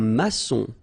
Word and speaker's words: maçon: Un maçon. Here you can see that we've got this little cédille beneath the C, okay? And it just means that you will pronounce this C as S, okay?